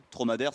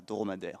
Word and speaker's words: Trauma d'Ère: Tromadaire, ça s'écrit, on rappelle, Traumadere. Voilà, et pas dromadaire, mais Tromadaire. Voilà, donc suivez cette compagnie de près.